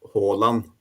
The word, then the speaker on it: Haaland: Yeah, in Norwegian it would be Haaland.